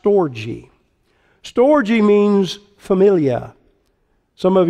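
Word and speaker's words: στοργή: when i explain it and the greek is pronounced storji storji means familia some of you may know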